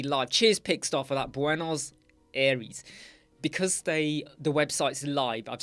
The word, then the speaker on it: Buenos Aires: Argentina, Buenos Aires, Buenos Aires, Buenos Aires. That's how you pronounce it.